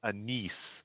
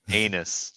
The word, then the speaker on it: Anise: Yes, and her name is pronounced Anise, Okay. not anus.